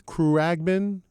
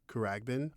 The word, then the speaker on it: Khruangbin: I don't want to say their name wrong. I think it's Khruangbin. Khruangbin.